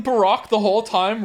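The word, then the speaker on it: Barok: I say Baroque because that's how they say it in the Japanese version, and because he's, quote unquote Baroque, like Baroque themed. So I think, and Baroque is actually a real name, so I think his name is pronounced Baroque, but Baroque is fine.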